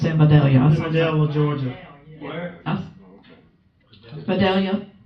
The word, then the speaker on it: Vidalia: Vidalia, as in onion.